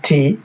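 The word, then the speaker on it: high: আমরা দেখে নিচ্ছি হাই এইচ আই জি এইচ হাই এখানে আই টি হচ্ছে একটি ভাওয়েল এবং এরপর জি এইচ রয়েছে তাই জি এইচ এর উচ্চারণ হয়নি উচ্চারণ হচ্ছে হাই কিংবা thought T ও ইউ জি এইচ টি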